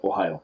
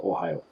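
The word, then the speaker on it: おはよう: first one it's simple you say good morning like the state ohio it's the same pronunciation spelt a little different but if you just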